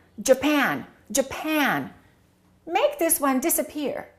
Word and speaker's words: Japan: With Japan and Brazil, the first syllable is reduced and the second syllable is stressed.